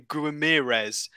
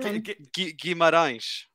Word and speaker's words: Guimarães: No, that's not how you say his name. It's not Guimarães. we literally had a whole thing in January about how to say his bloody name, and everybody's binned it off within 2 months, and it is not fair. The poor guy. How do you say it, Alex? Go on. Guimarães.